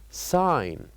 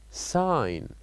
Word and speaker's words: sign: of words that uh has silent letters like g g h k and H and the first example of this word here here I would like you to listen and to point to which one is the silent letter and to say it